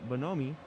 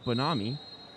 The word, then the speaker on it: Bonomi: That's going to be Nathaniel Bonomi. No, I just learned how to say this name. Nathaniel Bonami.